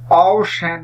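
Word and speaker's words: ocean: তাহলে অ্যাকর্ড এবং অ্যাক্লেইম শব্দ দুটিতে আমরা শুধুমাত্র হার্ড সি এর উচ্চারণ লক্ষ্য করতে পাই। অওশেন শব্দটি একটু লক্ষ্য করি।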